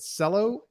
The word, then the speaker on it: Celo: do you pronounce it cello but for pronunciation I tell people to just imagine that they're using the short form of Marcelo ah very nice way